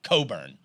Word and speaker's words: Cockburn: There was a kid, a really good basketball player at Illinois the last couple of years, Kofi Cockburn. And his last year, he changed the pronunciation to Coburn.